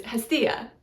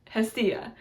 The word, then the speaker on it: Hestia: It's Hestia, Hestia.